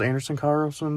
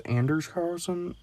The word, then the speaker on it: Anders Carlson: it Anders uh Carlson I thought his name was Anderson Carlson but they said it was Anders Carlson if I sound stupid